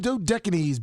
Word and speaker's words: Dodecanese: Lummy, if they're paying you the kind of money they are, then you damn well get a pronunciation. You guide. call Jimmy. Dodecanese?